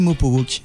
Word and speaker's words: Mopowok: Et que mal prononcé, ça se dit Mopo Walk.